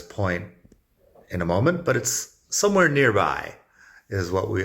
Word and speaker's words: ahí: somewhere nearby I now since the H is silent in Spanish the sound is about the same I probably say it